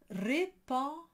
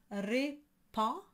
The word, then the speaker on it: répand: So you have répand, and the D and the S are not pronounced.